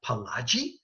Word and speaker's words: Pileggi: And I asked him, I said, is your name pronounced Pileggi? And he goes, yeah.